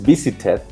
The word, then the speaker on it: visited: cuando yo lo pongo en pasado que es visited con la bebé entonces entra en esta regla